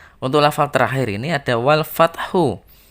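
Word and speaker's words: والفتح: terakhir ini ada walfathu ketika diwaqofkan walfathu maka cara membacanya adalah walfat jadi ada huruf H yang tersimpan yang harus harus keluar bunyinya meskipun hanya kecil bunyinya walfat Oh begitu ya anak-anak tidak boleh membaca wafat ketika Nano membaca wolfhard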